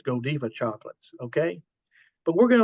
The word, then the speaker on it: Godiva: Brussels I always thought that this was the Godiva Chocolate here however I was Ed and I